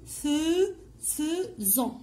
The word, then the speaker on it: faisons: Nous faisons. Comme vous voyez ici, je vois AI et on prononce E.